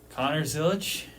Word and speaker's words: Connor Zilisch: Does it rhyme with Donner Tillich? It might. Would you like to say his actual name? Connor, whatever his middle name is, Zilisch. Connor Zilisch is my champion.